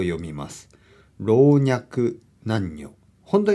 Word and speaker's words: 老若男女: そして男女と回転男女と読みます老若男女本当には僕は言えないこれ